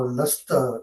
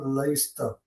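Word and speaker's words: لستَ: So why it is not Laista? Because Arabs don't say it like that. Okay. Simple as that, brother. Nothing else. Okay. We just have to follow how the Arabs speak their language.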